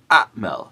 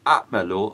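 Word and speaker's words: أعمل: When we use the ana form, we say ana a'mal, not a'malu or a'mala, but rather just a'mal, with a sukun at the end.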